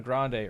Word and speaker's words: Grande: And, you know, they don't call her Grande. It's pronounced Grand.